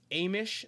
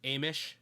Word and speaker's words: Hamish: And they are still barricaded in the kitchen and realize Amish is his pronunciation of his name. It's written in the subtitles as like Hamish, so Amish is how they pronounce it.